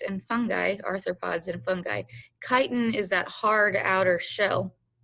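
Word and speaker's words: chitin: And so kiten in insects and fungi, arthropods and fungi, kiten is that hard outer shell. I'm not you, it's pronounced kiten, okay, with a hard k sound and uh the shell of crustaceans as well.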